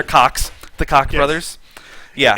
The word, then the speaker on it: Koch: Consider the tiefling the Koch brothers, or Koch brothers, however you say their names. Coke. Cook? No, they're Cox.